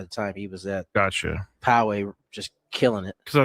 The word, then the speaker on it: Poway: I've been told that it's Poway. That's how you pronounce it. That. I know Tony doesn't want me to do this, but apparently the official pronunciation is Poway.